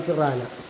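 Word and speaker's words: പിരാന: ഉള്ള മാന്യ ദേഹമാണത് അത് ഫിറാന ഫിറാൻ ഹ എന്ന് എഴുതും ഫിറാന എന്നാണ് ഉച്ചാരണം എച്ചിന് ഉച്ചാരണമില്ല ഇത് നമ്മുടെ ഗൗരാമി ജയന്റ് ഗൗരാമി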